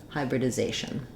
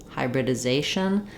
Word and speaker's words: hybridization: So hybridization. For words like this, it can help to start on the stress syllable like zation, hybridization. That helps you get the rhythm, the stretching on the zay, and get these first syllables more quickly.